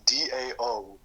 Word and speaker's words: dao: It's a, okay, this is how it's spells as DAO combined with the freaking Zai. DAO?